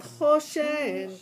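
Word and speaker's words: חושן: Choshen ve'ephod u'me'il. Okay, so the first one, the accent is on the chet, right? Not choshen, okay?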